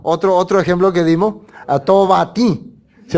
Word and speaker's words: Tobatí: Entonces cuando yo hablo en inglés, Tobatí, tengo que decir, ¿no? No puedo decir en inglés. No, si hablo en francés o en ruso, siempre voy a pronunciar Tobatí.